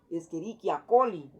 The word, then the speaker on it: Escherichia coli: que nos dice que si hay una letra C seguido de una letra H, o sea, CH, así como está aquí, se va a pronunciar como una letra K. Entonces ya no sería Escherichia, sería Escherichia, Escherichia coli.